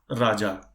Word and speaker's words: Raja: And for example, somebody name is Raja. I mean, an Indian name. So the colleague always used to call him as Raya only.